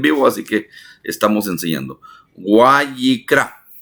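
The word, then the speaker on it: ויקרא: o Guayikra, perdone usted, es W-A-Y y latina QRA, Guayikira, Guayikira, Guayikra. Así es la pronunciación. Estoy en vivo, así que estamos enseñando. Guayikra, Guayikra.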